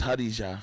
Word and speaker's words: Khadija: Like over here, we say Khadija. Yeah. When I lived in the Middle East, it's Hadija.